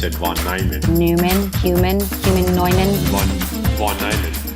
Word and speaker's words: von Neumann: No, he's pronouncing the name correctly, so I should pronounce it von Neumann.